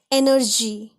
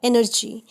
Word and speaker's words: energy: For example, biology, gym, GYM, gym, energy, ENERGY. G के बाद Y आया तो हमने इसे ज पढ़ा, एनर्जी.